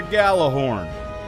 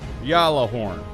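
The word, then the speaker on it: Gjallarhorn: alright then see this this is a gala horn people are going to try and convince you to pronounce y'all or horn but it's not other acceptable pronunciations are ball or horn G horn glory hole and gala but never ever Yala horn at one point in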